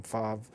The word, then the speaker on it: Favre: he pronounced his name Favre, Brett cousin Favre. Right. Yeah, he pronounced his name right.